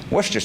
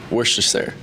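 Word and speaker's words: Worcester: And a final question, how do you pronounce uh I think you have to work on that more than I do. Worster sauce. Worster.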